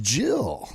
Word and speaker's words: Gillies: Todd, I believe there's a guy named Gillies. Pronounced Jill.